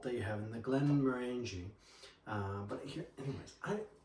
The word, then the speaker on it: Glenmorangie: Glen Morani. Glen Morani. Yeah, indeed. We roll the Rs.